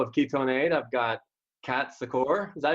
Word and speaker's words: Kat Secor: I've got Kat Secor. Is that how you pronounce it?